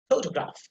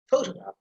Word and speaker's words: photograph: Then the third one, you can see the fa sound, it has been stressed, that's syllable. So photo, it is the photograph, photograph. You see, this a sound that is unstressed and ga sound that is secondary stress.